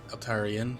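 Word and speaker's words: Altaerein: So last time we went back to Citadel Altaria, or however you pronounce it. Altarian, yes, that one.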